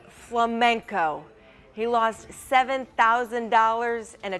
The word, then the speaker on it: flamenco: A North Carolina man mispronounced an already solved puzzle by saying flamingo instead of flamenco.